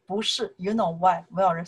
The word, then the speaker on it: 不: 不是, when you shortly answer something, somebody ask you, you want to say no, you can say 不.